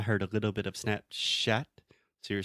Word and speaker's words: Snapchat: little bit off so the important thing here is the CH sound when we say chat is just like a CH so just like the same way that if we say Chile in English yeah I think so